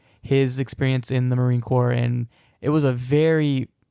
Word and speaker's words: Marine Corps: So I know I said Marine Corps. It's actually Marine Corps.